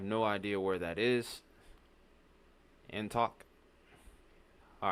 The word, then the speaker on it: Antioch: Antok. All right, thank you for the correction because I never get that one right. Antok. That sounds like it makes more sense. Antioch.